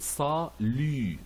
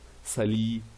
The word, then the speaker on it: salut: So we pronounce it salut and not sali or salut or salute. We never pronounce this T.